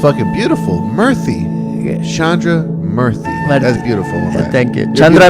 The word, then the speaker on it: Murthy: mean oh very interesting so it's not spelled the same way but it's pronounced the